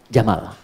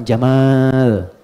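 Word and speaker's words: جمل: jantan maka namanya Jamal saya notis ya pendek bacanya Jamal bukan Jamal jamalun unta Jamal ganteng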